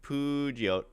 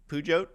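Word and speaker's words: Peugeot: Puote. Pujot. We don't really have uh these are all over French. Perhaps it's French Mike and you don't say the T.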